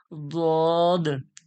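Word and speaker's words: ض: গড়ার যে ধার এই জিহব্বার গড়ার ধারকে এই দাঁতের উপরের মাড়ির দাঁতের গড়ার সঙ্গে লাগিয়া জদ উচ্চারণ হয় তাহলে কোথায় বুঝলেন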